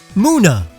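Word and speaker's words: Munna: Muna. Like the moon. Mana is an ugly name for such a pretty Pokemon. It's spelled and pronounced this way because it's an onyomi of the Japanese word for dream.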